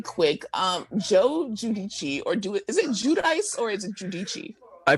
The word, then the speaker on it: Giudice: Joe Giudice, is it Judice or is it Giudice?